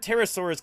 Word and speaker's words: pterosaurs: are indeed pterosaurs and the word pterosaurs got a silent P at the front just like just like